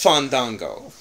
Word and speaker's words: Fandango: Fandango first of all you're saying his name wrong I'm sorry I'm saying his name wrong it's fond Dango and I'm Kelly is